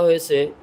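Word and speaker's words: ح: বড় হা একটি ছোট হা বড় হা বলা হয়েছে এ দেখুন আমি নগের নখ দিয়ে ধরেছি একে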